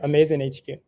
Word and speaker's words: AMAZN HQ: Is that the correct pronunciation? Yeah, AMAZN HQ.